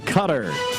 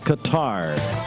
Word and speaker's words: Qatar: World Cup today in Cutter yes you pronounce it cutter not Qatar France and Morocco two